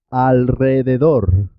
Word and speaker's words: alrededor: Se escribe simple, una sola R, pero suena doble. Por ejemplo, en alrededor, alrededor.